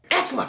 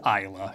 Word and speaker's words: Isla: is instead played by is it isla or esla i better look it up online and see how other people pronounce it esla fisher oh that sweet honey from wedding crashers he seems trustworthy hey yeah i know it's isla and she has a